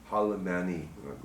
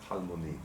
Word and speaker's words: Halmoni: That's how it's spelled. Halmani, but Halmoni.